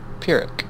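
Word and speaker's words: Pyrrhic: Just the pronunciation is P I R I K. Pirick. Pirick.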